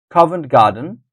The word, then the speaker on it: Covent Garden: Abbey the first syllables Covent Garden the first syllables Covent Garden Saint Paul's Cathedral and